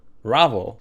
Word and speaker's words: Ravel: I reloaded an older save because Ravevel Ravvel Ravvel. That's right. That's the way they pronounce it.